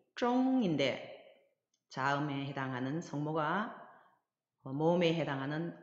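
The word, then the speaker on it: 中: 이 중국 할 때 중자 역시 자음과 자음에 해당하는 성모와 모음에 해당하는 운모가 결합해서 쫑이라는 발음을 형성하였고 거기 위에 일성 성조 표시가 되어 있으니까 일성으로 발음을 하면 쫑 이렇게 발음하시면 되겠습니다.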